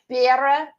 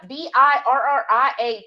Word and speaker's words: birria: Yeah, birra tacos. I'm sure I mispronounced that, y'all. But birra. Laura... hit my mouth. Birra, Birria tacos.